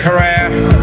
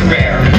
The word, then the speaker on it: Herer: His name is often mispronounced. Jack Herrera. Have I pronounced it correctly, Jack? He likes to say it rhymes. Okay. Jack Herrera. Jack Herrera. Jack Herrera. Mr. Jack Herrera.